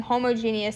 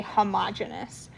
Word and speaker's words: homogeneous: some people instead of saying homogeneous say homogeneous i don't naturally say it that way but if you ever hear it on a video or something there's two different kind of accepted ways to pronounce it um so uh